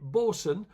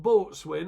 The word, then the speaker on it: bosun: Bosun, not boatswain as people do pronounce it, bosun as in the Navy term, the Navy, you have a bosun on a ship, don't you? So that's how bosun's spelled.